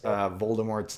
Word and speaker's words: Voldemort: She's like, the T is silent.